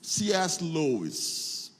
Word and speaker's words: C.S. Lewis: Lewis, ou pronunciando corretamente, cadê minhas professoras de inglês? C.S. Lewis.